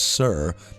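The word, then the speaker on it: soir: Osiris is an Irish compound word from Os, meaning high, and S O I R, pronounced sir, meaning east, the morning sun.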